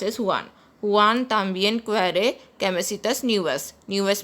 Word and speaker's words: Juan: In Spanish it is pronounced as Juan. Juan también quiere camisetas nuevas.